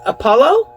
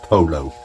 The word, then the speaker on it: pollo: It's pronounced polo.